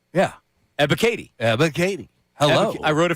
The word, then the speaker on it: Ebiketie: But Ebiketie. There you go. Arnold Ebiketie. Yeah. Ebiketie. Hello. I wrote it phonetically.